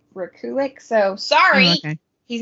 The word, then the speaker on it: Rekulak: It's Rekulak. Yeah. So, but apparently it's Rekulik.